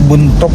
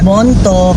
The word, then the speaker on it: Bontok: ah parang nasa May buntok na kami. Bontok or Bontok. Ah pagkakabigkas daw sabiin.